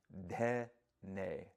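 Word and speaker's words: dhene: ta-ka, we already know, dhe-ne. We spell it D-H-E-N-E. Ta-Ka-Dhe-Ne or Ta-Ka-Dhe-Ne. You'll hear me maybe go back and forth with that variation in pronunciation.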